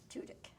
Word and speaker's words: Tudyk: You know, I have learned through the years, don't ask somebody else how he pronounces his name, ask him. Tudyk.